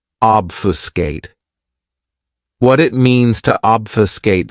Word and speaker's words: obfuscate: This verb has three syllables and the stress is on that first syllable. Obfuscate.